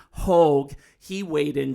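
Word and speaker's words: Haugh: So there's a veteran columnist David Haw. He h a u g I'm not mispronouncing Hogue.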